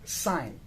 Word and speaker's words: sign: we have the verb sign so sign is spelled as s i g n and here the g is silent but when we change